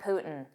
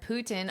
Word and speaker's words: Putin: Now, notice sometimes I pronounce this T and say Putin, Tin, and sometimes I'll drop it and say Putin. Putin. That's just a very common thing in spoken English, specifically spoken American English. You will hear me as well as all native speakers do the same thing and the pronunciation without the T is more common especially in casual speech.